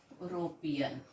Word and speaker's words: European: pronounced as a yo european this is the sound yo okay eu is pronounced as european so it is starting with y so that's why we